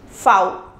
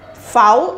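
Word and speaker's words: Vau: or makes clock so the next alphabet is V it is pronounced as V in English and in German it is pronounced as foul Wow and for example we can say for girl V is pronounced as foul in German and we say formula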